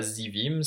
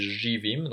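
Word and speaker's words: živim: On voit que ce Z avec un chapeau dessus, ça se prononce comme un J. Hein, c'est pas un Z, c'est pas Zivim, c'est JVIM.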